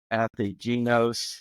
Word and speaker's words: Ategenos: Really excited about today's guest is John Coyne with Athegenos, and did I pronounce it right?